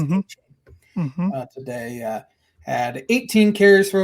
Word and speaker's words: Achane: Dolphins are without 2 running backs, so their third-round pick, Devon Achane, he said he wants it to pronounce Achane today, had 18 carries for over 200 yards.